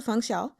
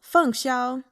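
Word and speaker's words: 凤霄: So now moving on to Fèng Xiāo. His name is Fèng. That's the fourth tone. Fèng. Xiāo. First tone, so Fèng Xiāo.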